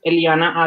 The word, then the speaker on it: Eliana: A lot of people struggle to say Eliana, but it's just Eliana as is you pronounce it with the Latin language, because Eliana, my origin name, or how I originated from Colombia.